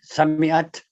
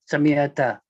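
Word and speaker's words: سَمِعْتَ: Sami'at. No, sami'at. Ta should have a fatha. Sami'ata.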